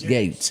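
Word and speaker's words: Gaetz: Matt you pronounce his G how do you pronounce that Matt gates gates Matt Gates he's going to lead the charge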